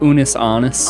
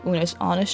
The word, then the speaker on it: Unus Annus: How is it pronounced? Unus Annus.